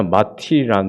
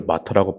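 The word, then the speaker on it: martyr: 예전에 마티라는 제가 읽었는데요. 네, 원어민들 마터라고 발음하더라고요.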